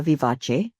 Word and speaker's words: vivace: Now the word uh vivace um pronounced the Italian way it actually refers to a music tempo that's spirited or lively.